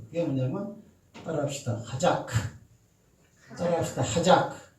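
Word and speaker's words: חזק: 하작. 뒤에 크자는 빼버리고 하자. 따라합시다. 하자. 하작 하면 하작. 큰은 이게 묵음될 수 있죠, 그죠? 하작. 뒤에 발음을 꽉 악센트를 줘버리면 키역이 붙어버리는 거야.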